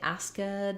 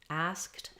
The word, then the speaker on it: asked: The letters ED say the T sound when they follow voiceless consonants. So we don't say asked or stopped. It's stopped, asked.